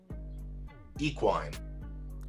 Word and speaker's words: equine: so who do you have oh evan god equine oh yeah i is that that's how you